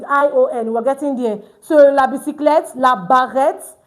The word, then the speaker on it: bicyclette: Having word end with E-T-T-E. It's pronounced as et. So we have la bicyclette.